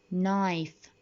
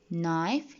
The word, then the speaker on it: knife: Always if the words start with K followed with N, that means the K is silent. دايما ال K بتكون هي silent. Notice the pronunciations of the word. Knee, new, knife, night, not, no.